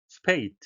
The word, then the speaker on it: spate: spate, 발음에 유의하셔야 되겠는데요. A는 A로 이중모음이 되겠고요. 마지막에 A는 다른 것과 마찬가지로 발음하지 않겠습니다.